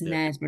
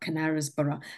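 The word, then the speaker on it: Knaresborough: And it's Nesbra, not Canarasborough.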